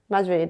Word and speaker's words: Majri: Majri, that's it.